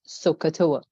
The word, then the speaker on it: SOH CAH TOA: Or of course, SOH CAH TOA. I think you've heard this before, but this is how I pronounce it.